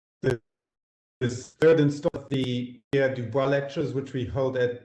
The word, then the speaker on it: Du Bois: about today um so i use the english pronunciation for that name which is w.e.b dubois dormit i'm pretty pleased